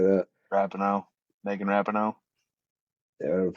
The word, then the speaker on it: Rapinoe: I know her last name was like what, Raponi or something like that. Rapinoe. Megan Rapinoe. Yeah, whatever the fuck her last name is. I Yeah. never say it right. Every time I just say Rapapone.